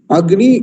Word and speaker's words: अग्नि: नकार का संयोग है इसका उच्चारण कैसे होगा अगनि ऐसे होगा होगा अगनि ऐसे होगा